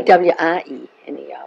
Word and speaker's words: Weiner: W-I-E-N-E-R was my name. We pronounce it Wiener and you pronounce this Wiener.